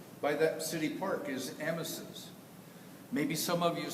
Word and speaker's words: Amasa: The correct pronunciation is Amasa, but his best friends always called him Amasa.